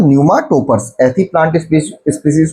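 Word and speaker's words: pneumatophores: न्यूमा toppers. ऐसी plant species को क्या बोलते हैं हम? न्यूमा toppers. ठीक है? पीए इसमें क्या है? साइलेंट है और वहीं सुंदरबन डेल्टा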